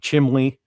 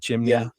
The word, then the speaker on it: chimney: around me was always saying like chimley instead of chimney and things like that chimney and then I'm like you're kidding me I was mispronouncing porcupine.